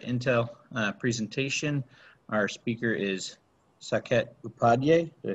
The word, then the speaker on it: Saket Upadhyay: Our speaker is Saket Upadhyay.